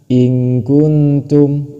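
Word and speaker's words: إِنْ كُنْتُمْ: In kuntum, in kuntum seperti itu. Cara membacanya harus seperti itu. In kuntum. Mengapa dibaca seperti itu? Karena ini dihukumi ikhfa. Ikhfa harus cara membacanya dengan samar dan berdengung.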